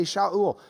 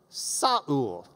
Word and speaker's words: Shaul: Because the Greeks didn't have an SH sound. They couldn't have even pronounced his name. He gets out in the Greek world and they're like, how do you say it? They don't have a sh sound in Greek. So they just do S, sa. So Shaul becomes Saul, Saul, we read it. But it's the same guy, okay?